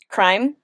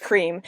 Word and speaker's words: Crime: and Sun, and like Crime. I always want to pronounce it cream. When I read it, I pronounce it cream, but it's crime.